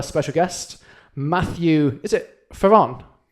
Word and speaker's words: Fearon: Today we have a special guest, Matthew, is it Fearon? How would you pronounce it? Fearon? You pronounce it Fearon, I pronounce it Fearon. Fearon. Yeah. To get your fear on.